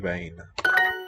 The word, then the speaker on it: wijn: De zwakke mannen drinken wijn. The v sounds between a W and a V. I'm not sure what that means, but it's not quite either, yeah.